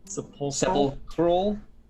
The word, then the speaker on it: sepulchral: Sepulchral. Like sepulcher, but something else.